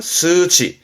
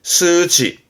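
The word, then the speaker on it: 数値: 발음은 스치. 스치.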